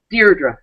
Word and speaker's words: Deirdre: You, as the grandniece of Al Capone, Deirdre, do you pronounce it Deirdre? Deirdre, yeah.